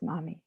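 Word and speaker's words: momme: all else to attain mommy is a japanese unit of weight 3.75 grams used to value loose or stringed pearls pronounced mommy perhaps foolishly i've assumed because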